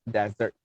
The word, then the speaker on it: desert: you re-pronounce the word it's not desert it's desert okay dessert is the one that you eat after you have your lunch or a dinner okay